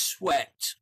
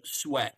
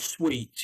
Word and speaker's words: sweat: So the pronunciation is sweat. So you don't want to it's pronounced sweat like that, not sweet, yeah?